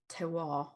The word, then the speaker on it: terroir: can change based on the climate or the terroir. I don't know. Did I pronounce that right?